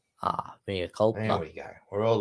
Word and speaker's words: mea culpa: Pronounced mea culpa. Ah, mea culpa.